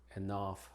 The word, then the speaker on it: enough: Pero en otras palabras la GH se pronuncia como F en las palabras que vemos acá. Aquí, cough, draft, enough, laugh, rough, and tough.